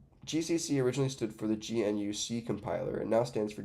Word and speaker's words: GNU: And it's pronounced, GNU, by the way.